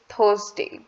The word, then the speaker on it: Thursday: Lekin, according to American English, it's Thursday. Thursday. So there is nothing wrong if you pronounce it as Thursday, or in American English there is a thing with R. In British English we do not emphasize that much on R, lekin in American English we emphasize. So in American English it's Thursday. So if you call it Thursday or if you call it Thursday, all correct. Wednesday and Thursday.